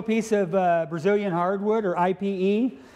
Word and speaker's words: Ipe: So we got a little piece of Brazilian hardwood, or IPE. IPE is pronounced Ipe.